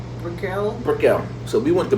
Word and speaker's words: Brickell: Yeah, let's go to how's it pronounced? Brickell.